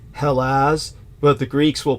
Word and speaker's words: Hellas: language it will say Hellas but the Greeks will pronounce it elas the H is silent to the Greeks and we really get